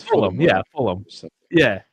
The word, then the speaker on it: Fulham: Yeah, Fulham. Yeah. You don't say like West Ham, but Fulham. It's like Fullum.